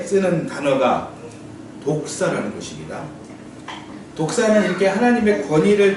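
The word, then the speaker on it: δόξα: 독사. 예, 독사입니다. 예, 독 있는 뱀과 같은 그런 같은 발음이에요.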